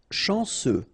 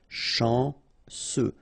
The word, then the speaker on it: chanceux: chanceux. Final X not pronounced. And then remember, C, E, U will give you this se sound. Chanceux.